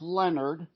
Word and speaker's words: Lenard: pronouncing it right it's Leonard it looks like lonard but it's not French it's actually polish somehow and it's l